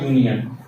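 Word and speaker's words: union: ठीक है, next example है अ यूनियन। इसका भी साउंड क्या है, यू, तो इसके पहले भी आर्टिकल ए का इस्तेमाल होगा।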